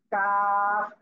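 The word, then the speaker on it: ك: জিহ্বার গোড়া থেকে একটু আগে বাড়িয়ে তারপর আবার উপরে তালুর সাথে লাগিয়ে পাতলা আওয়াজে কাফ, এই অক্ষরটি উচ্চারণ হবে।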